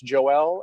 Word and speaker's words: Joel: finally um i i've heard your name pronounced on this press conference joelle and also joel do you have a preference not really honestly not to pick in those kind of thing you're i understand that you know it is a french name and people are going to pronounce it differently i don't get offended